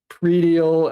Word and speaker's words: predial: Um, headrail, predial, actually in Collins that's pronounced pre-dial because it does take an S, means to dial beforehand.